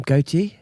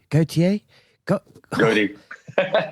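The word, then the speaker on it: Gotye: Gautier? Goaty.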